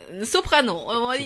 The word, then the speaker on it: Soprano: Soprano. C'est un français donc tu peux le prononcer à la française.